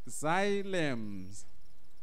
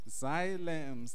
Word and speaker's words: xylem: the first word where my case is is pronounced as follows xylems xylems this is how we pronounce the word can